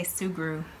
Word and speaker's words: Sugru: I say Sugru.